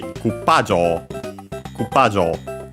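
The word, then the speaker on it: クッパリング: So indeed, in our case, it would be Koopaling. So jaw is all low, and it's high until pa. Koopaling.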